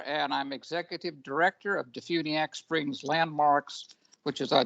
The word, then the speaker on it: DeFuniak: uh your community yes the name of the town is defuniak florida d-e-f-u-n-i-a-k d-funiak springs florida all right so we